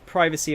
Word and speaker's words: privacy: i don't remember it being called privacy with a short eye um i don't know it might just be a an english way of pronouncing it spidey i don't know i'm pretty sure both privacy and privacy are both correct though oh it's how